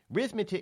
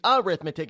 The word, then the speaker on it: arithmetic: don't you know anything rithmetic it's not how it's pronounced it's arithmetic it's not an R it's an a just goes to show